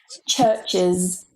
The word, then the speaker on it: churches: Churches, churches, or churches, churches. So you can say it with a schwa or an I. There's really not that much difference in the pronunciation in rapid speech, if I'm honest, and it depends on the person's accent. But most dictionaries and books will tell you that it's schwa.